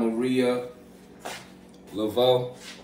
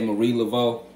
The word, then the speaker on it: Marie Laveau: It's a lot of information that they try to put out there about Maria Laveau. Or if you want to say Marie Laveau. However you want to pronounce her name.